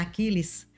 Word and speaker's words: Achiles: Sim, meu pai é Achiles Monteiro de Morais, mas é complicado porque tem que pronunciar Aquiles e e minha mãe Ana com dois ns, ela exige isso.